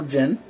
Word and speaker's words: 勁: It's going to be still pretty much within neutral Jin, or neutral Jing, however you... There are two pronunciations.